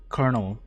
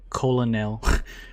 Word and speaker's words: colonel: I think that's I think it's pronounced colonel, not colon nail.